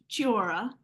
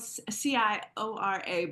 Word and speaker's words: Ciora: Ciora, is spelled Ciora, but you say it with the ch sound.